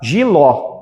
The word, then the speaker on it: jiló: classificação de sílaba tônica palavra jiló jiló é oxítona porque a última sílaba é mais forte Beleza se eu falar